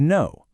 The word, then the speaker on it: know: Think of the word know. The K contains the meaning, but it remains completely silent.